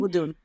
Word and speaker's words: Vodun: Vod, it's just voodoo with an N on the end. Vun. Vodun.